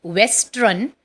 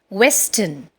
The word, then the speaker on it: Western: Now, in this, again, R is silent. It is not Western, but it is pronounced as Western.